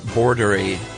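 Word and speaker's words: boerderij: And now the word for farm is uh pronounced he gave me an English pronunciation, thank goodness. Uh bordery border or bordery.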